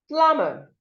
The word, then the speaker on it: plumber: The B here is silent, so you do not say plumber. It is plumber, plumber.